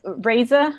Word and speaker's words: Raza: a nice lady um miss raza raza am i saying it right right yes yes that's the way